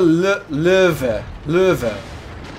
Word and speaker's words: Löwe: Yeah, so it's the Löwe. It's not supposed to be like a U, like a uve. It's a Löwe.